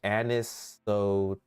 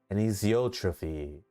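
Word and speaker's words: anisotropy: I never know how to pronounce it. It's anisotrophy. Anisotrophie. Anistrophy.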